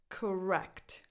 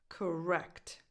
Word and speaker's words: correct: Correct. Correct. The stress goes on the second syllable.